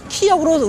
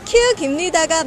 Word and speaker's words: 키읔: 그리고 또 많은 사람들이 우리가 키읔을 키역으로 우리가 알고 있는 경우가 많은데 이것도 잘못입니다. 보통 기억에 유추해서 잘못 알고 있는 경우라고 할 수 있습니다. 네, 키읔입니다가 맞는 발음입니다.